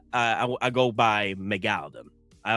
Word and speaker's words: Megalodon: The proper the proper way to say Mega Megaladan is Megalodon. That's the proper pronunciation is Megalodon, but I like to call I like I I go by Megaladon. I like to call it Megaladon.